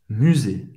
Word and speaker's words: musée: ouvre, ferme, fecha le musée. Museu em francês, musée, mais uma vez, presta atenção na pronúncia desse U. Obviamente, eles vão responder, on